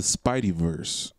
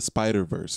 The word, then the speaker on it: Spider-Verse: We went to go see Into the Spideyverse. Is that how you say it? Spider-Verse? Into the Spider-Verse. It's not Spidey. I don't know why I keep saying Spideyverse.